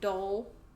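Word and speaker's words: dhole: yes it's this guy a dole is how you say it a dull i'm not really for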